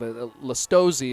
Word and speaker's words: Lastowski: Lastowski is how we correctly pronounce his name.